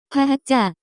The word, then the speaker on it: 과학자: The pronunciation of this word is closer to. 과학자, 이그젠펄즈, 과학자가 되면 돈을 많이 벌 거예요.